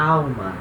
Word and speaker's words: alma: aqui no alma, na alma. Alma se escreve igual, né? Se fala alma, né? Esse L tem uma pronúncia diferente em português.